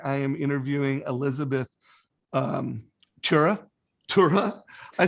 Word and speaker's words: Turra: No, it's actually just like it sounds, Turra.